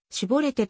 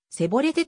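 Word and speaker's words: シボレテ: 人にでは絞れてと言って来ランなさいと言いその人がそれを正しく発音することができないでせぼれでという時はその人を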